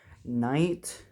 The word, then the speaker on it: knight: move is to move knight c3, which is nc3, not kc3. Now, if you're thinking of knight, don't go with the k. The k is silent. It's the n.